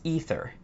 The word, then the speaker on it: Aether: Aether, Aether, Aether. Aether, Aether, Aether. Okay, 1 is Aether. A as in lay.